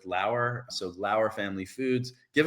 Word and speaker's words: Lauer: They're at Lauer Family Foods, spelled like flour. It rhymes with Lauer.